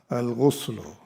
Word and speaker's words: الغسل: Al-ghusl, it is pronounced here with the dhamma and the ghain. Al-ghuslu.